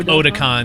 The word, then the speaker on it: Otacon: Yeah, like Otakon, because that's how he pronounces it.